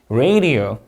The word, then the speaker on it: radio: radio. 자, R 발음 유의해 주시고 encourage 이음절 강세 weather convenience drastically humid have an announcement.